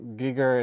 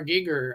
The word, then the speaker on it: Giger: HR Giger yeah definitely this is very Geiger Giger is that how to pronounce it yeah I work with HR Giger